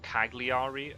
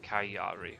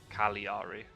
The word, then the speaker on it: Cagliari: I was also told off by Philly, it's not Cagliari, apparently. The G is silent, it's like Cagliari, or Cagliari.